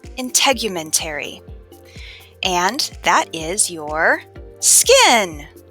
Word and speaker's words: integumentary: Okay, integumentary starts with the sound in, which rhymes with skin.